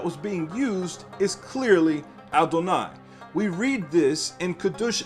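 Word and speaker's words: אדני: So therefore, again, it says, not as I am written am I pronounced. I am written with the letters Yod, He, Wah, He. I am pronounced Aleph, Dalet. And of course, Nun and Yod is inserted. Adonai is what is referring to.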